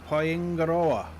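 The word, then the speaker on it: Paengaroa: The trick is you have to roll your R's. Kia ora. Sort of like a bit of a roll on the R. Used to live near a town called Paingaroa. So you're rolling your R's on that one too.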